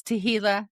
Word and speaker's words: Tehillah: It's Tehillah on the very last page of my book for 440. Nice. Yes. Specific. Yes. I love it. Ray Hughes says rhymes with tequila.